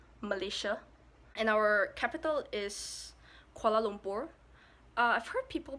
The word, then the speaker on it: Kuala Lumpur: would say militia militia and our capital is Kuala Lumpur I've heard people pronounce it as kuala lumpar called a limpid something that but it's kuala